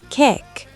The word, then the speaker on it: kyk: "Kijk," she said. "It means look. You pronounce the Y like A in play. Kijk."